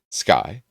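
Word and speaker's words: Scoth: So, uh, apparently S C O T H is pronounced sky.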